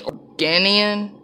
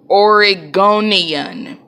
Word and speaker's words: Oregonian: she's gone in and he's organian i was about to say origami but how do you say that oregonian yeah he's from oregon you think veronica's would have